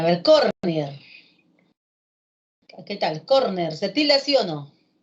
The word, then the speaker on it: córner: para decirme a ver con piel qué tal córner se lesionó o sean útiles gente que se